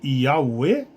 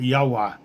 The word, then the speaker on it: Yahweh: Então, daí a falsa pronúncia de Jeová. Sabe-se hoje com certeza que a sua pronúncia correta eles colocaram aqui Yahweh, Yahweh, Yahweh, né? Yahweh.